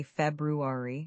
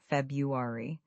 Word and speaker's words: February: You're making sure to say February, not February. That first R sound is important.